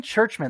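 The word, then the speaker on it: Czuczman: Kevin Churchman. There's 2 Z's in there and a C. And no H's. And no H's. But that's how I've heard it pronounced.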